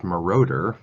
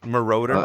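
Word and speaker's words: Moroder: So, so and by the way, it would be uh it's pronounced Maroter. Maroter.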